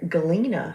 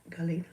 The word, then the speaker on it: Galena: Galena, I love that name. It's like Glenda, but the G is silent. Galena.